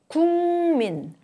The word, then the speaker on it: 국민: The plosive sound 그 changes to 응, the nasal sound when it is followed by 무, which is also a nasal sound. 국민, 국민, 국민.